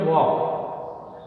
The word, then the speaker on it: walk: फिर वॉक, ये भी टॉक के जैसे, इसमें भी एल साइलेंट है, WALK, वॉक, पैदल चलना, second form WLKED, वॉक्ड, third form भी वॉक्ड, और फिर ING फॉर्म वॉकिंग।